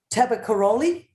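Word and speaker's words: Tabakoroni: i'm going to try and say it right taba karoli spot on well done there you go i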